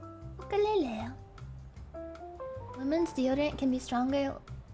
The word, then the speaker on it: ukulele: I recently learned the right way to pronounce ukulele is ukulele. Ukulele.